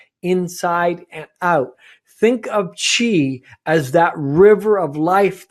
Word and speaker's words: qi: So focus number 1, or restoration number 1, is nurturing the qi. Qi is spelt Qi, and qi is the vital energy flow inside the body, the life force.